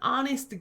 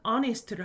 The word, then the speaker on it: honest: 두 번째, an honest girl이라고 할 때 원래는 소녀 한 명이라고 할 때는 뭐라고 하죠? a girl이라고 하죠. 왜? 발음은 모음 소리가 아니니까 그냥 어를 붙여요. 그런데 정직한이라고 하는 honest를 하면 역시 H가 소리가 안 나죠.